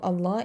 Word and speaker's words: Allah: So lam of Allah is pronounced light when it is preceded by a letter that has kasra. And when we have fatha, we pronounce it heavy.